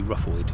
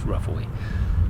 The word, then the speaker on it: Ruffaud: So yeah, this is Ruffaud. As I've learned, you don't pronounce a D. Typical English man, I thought it would be Ruffaud, but it's Ruffaud.